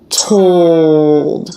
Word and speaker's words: told: after the diphthong and this L does change the diphthong it's not toe child but it's told it's almost like one sound you can maybe think